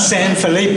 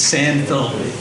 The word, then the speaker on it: San Felipe: Most of these guys don't know how to pronounce San Felipe correctly. It's not San Felipe. In Houston, it's San Felipe.